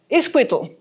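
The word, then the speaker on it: itzcuintli: Well, of course, I have a Spanish pronunciation in my Nahuatl, but Iscuitle.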